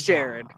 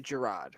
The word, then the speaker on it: Jared: ger is it Gerard some people say it's Jared says gerod it's technically my name is pronounced gerro you have an A